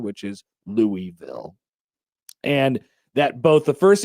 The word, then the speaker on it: Louisville: The Louisville Visitors Center says that the that only the